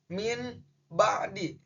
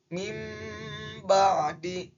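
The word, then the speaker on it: مِنْ بَعْدِ: Di sini contoh awalan bacanya itu min ba'di. Tapi berdasarkan dengan hukum bacaan iqlab, nun matinya harus digantikan dengan mim. Berarti bacanya menjadi mim ba'di.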